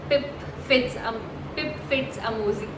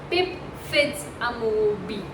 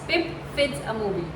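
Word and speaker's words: Pip Fitz-Amobi: name is Little Kilton, and our protagonist is Pip Fitzamozy. Oh my god, I cannot just for the love of my life pronounce this right, but it's Pip Fitzamoby. Yes, now I've pronounced it correctly. It's Pip Fitzamoby.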